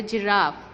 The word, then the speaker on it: giraffe: We have the sound of G as G, G, G. But now we are pronouncing it as a giraffe. It's mean we have this sound J.